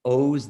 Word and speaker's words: Oz: big ones mine is owes the mentalist it looks like oz like the wizard of it's an unusual pronunciation but so it's o z the mentalist you'll find